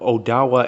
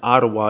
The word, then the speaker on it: Odawa: of the Odawa tribe now Odawa and Ottawa is the same thing it's just a later pronunciation of it the Cahokia is